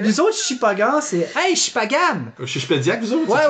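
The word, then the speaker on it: Shippagan: C'est incroyable, c'est 3 syllabes, gang. On va l'avoir tout le monde ensemble, ok? Vous êtes capable de dire Quatico, vous pouvez dire Chipagan. Puis il fait, hey, Chipagoun!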